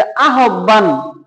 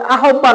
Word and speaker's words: আহ্বান: এখানে প্রথমে আমরা স্বরে আ লিখলাম, তারপরে এই হয়ের পরিবর্তে আমরা কি লিখবো? রস্বউ বা উ, আপনি যেটা দেন। পরে এই বয়ের পরিবর্তে হবে ভ, পরে আকার যেভাবে আছে সেভাবে, বাকিটা যা আছে তাই।